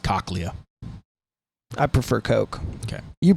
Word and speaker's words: cochlea: your cochlea and um it's pronounced cochlea i prefer coke okay